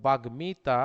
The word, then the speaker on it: বাগ্মিতা: ফলার ডিরেক্ট উচ্চারণ হয়, এগুলোর সময় ম ফলাটা দ্বিত্ব উচ্চারণ হয় না। যেমন আমরা বলছি যুগ্ম না, যুগ্ম বলবো আমরা, আমরা বলবো বাগ্মিতা, আমরা বলি বাল্মীকি।